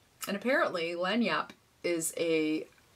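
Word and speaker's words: lagniappe: spelled a l-a-g-n-i-a-p-p and it's pronounced lanyap and apparently lanyapp is a it's kind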